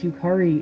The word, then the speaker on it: Yukari: I think they mispronounced Yukari as well, which is weird because Yukari is pronounced just as it looks.